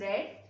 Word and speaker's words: read: form for the read is the same spelling will get it but the pronunciation is different a poem is red and by is followed